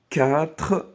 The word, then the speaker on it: quatre: ار ملي كيجيو قبل منا تي ولا سي ولا بي ولا اف كتنطق بالخاء.